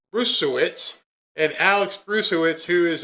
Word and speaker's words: Bruesewitz: Bruesewitz, and Alex Bruesewitz, who is a Trump advisor,